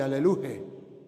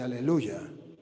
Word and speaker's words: aleluya: Apocalipsis habla del aleluya, no habla de aleluje, habla de aleluya. Aleluya. Ya es Yahvé, no Jehová, no se dice alelu sino aleluya.